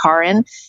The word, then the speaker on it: Karin: it became really important my name is actually pronounced Karen you know I've bit